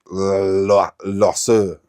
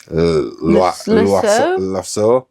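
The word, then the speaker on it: Loiseau: real life French chef oh okay called Bernard losu I don't know if I've butchered that it's l o i s e a u loo uh Bernard loo but yeah maybe is Gusto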